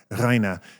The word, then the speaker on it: Rainer: And so my kindergarten teacher renamed me because she couldn't pronounce my name because my name is actually pronounced Rhina.